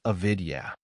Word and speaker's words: avidya: The first is avidya pronounced avidya which means ignorance or misunderstanding of reality.